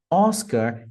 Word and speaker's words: Oscar: ênfases no lugar certo Oscar representando a letra ou Oscar Oscar Ah percebam que não tem nem o r é mais um oscar osca interessante pi para papa